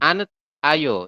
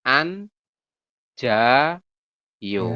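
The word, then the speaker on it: 앉아요: Teman-teman nanti bacanya adalah an, kemudian jadinya ja. Seperti itu ya, bukan Anjayu. an ayo, tapi an ja yo.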